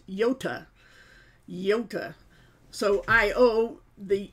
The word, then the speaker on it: iota: the mispronounced name like iota is how you write out the name for that letter in the Greek alphabet but it's pronounced yota Janka so I owe